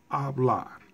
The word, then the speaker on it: hablar: Now, when the word ends in a consonant letter, then the stress or the loudest sound is going to be placed on the last syllable in the word.